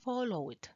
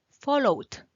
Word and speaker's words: followed: Entonces, Si es muda, tenemos que la E no se va a pronunciar. Followed. ¿Se fijan? Followed. Cook, cooked. ¿Ok? Y así sucesivamente, cuando está en pasado, solo pronunciamos como quien dice la D. Aunque a veces suena fuerte como una T, así es como suena en pasado. La E no suena.